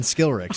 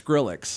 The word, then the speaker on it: Skrillex: That might have been Skillrix. I don't think it was. How do you say that band's name? I thought it was Skrillex.